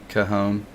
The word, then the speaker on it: Cajon: how do you say carhoon cajon yeah the j is silent or the j's h sounds like an h for some reason because